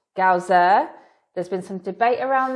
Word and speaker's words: Galzyr: and we just found out that it's actually pronounced gausser there's been some debate around this we were calling it lands of gazier but confirmed that the designer actually does say gausser so we're going to try really hard to